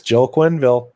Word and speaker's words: Quenneville: a hockey coach now no really yeah yeah Quinn Ville is uh in charge of the Florida Panthers now I was just gonna say is it Joel Quenneville it's Joel Quenneville I haven't watched hockey George Q baby coach